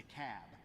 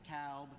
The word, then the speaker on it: Cobb: yankees in the room it's the cab not the cowb not the cobb it's